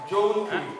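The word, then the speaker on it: জৌনপুরী: বাজে বাজে বাজে রাগটির সঠিক উচ্চারণ ছিল যৌনপুরি এই যৌনপুরি রাগটি এতক্ষণ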